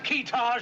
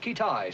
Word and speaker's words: Kitaj: Have we located this fella Kitaj yet? Pronounced Kitai, sir.